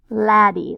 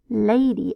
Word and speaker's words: lady: Perhaps the syllable breaks right here after the A, which would cause the A to make its long sound. Lady, oh, now that sounds much better.